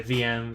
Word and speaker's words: venv: So some will say venv, some will say vm, some will say virtual env.